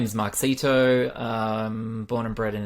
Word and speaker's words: Mark Seeto: welcome to the podcast today's our guest is Mark Sito Mark am I pronouncing it right would you like to uh no that is perfect markito that's me wonderful so Mark uh tell us